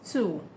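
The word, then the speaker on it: tout: Then the example in French says two. The T at the end is silent. Just know that the T at the end is silent, but not for every case, but in most cases, two.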